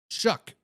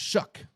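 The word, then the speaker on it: Shough: Shuck. It's spelled S-C or S-H-O-U-G-H. Let me spell it for you there. But it's pronounced Shuck. Like S-H-U-K. Shuck.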